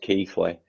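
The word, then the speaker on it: Keighley: ps5 and ps4 this holiday it's um it's pronounced keithley because there's a town about 10 miles away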